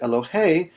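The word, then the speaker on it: אֱלוֹהַּ: last syllable no exceptions so here on this word eloh the accent is on the last syllable we call this type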